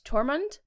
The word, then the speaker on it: Tormund: is I think you say his name is tormund yeah the wildling guy redheaded dude that's super